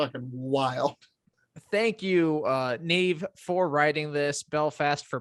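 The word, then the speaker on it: Niamh: her name and it's neve me we're talking about like queen maeve no her her name is spelled n-i-a-m-h interesting and more than likely that is pronounced neve but anyway their university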